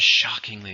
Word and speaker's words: shockingly: shockingly is a adverb how many syllables three stress on the first one shockingly the hotel was shockingly expensive it was so